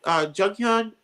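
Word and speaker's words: Jonghyun: We miss you, what was the guy, Junghyun That's how you pronounce his name from Yeah.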